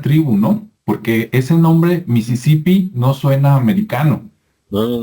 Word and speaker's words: Mississippi: o sea está rarísimo no sé cómo se pronuncia ya correctamente en inglés americano es como así como como se escucha en español es lo mismo a Mississippi e Mississippi Pero se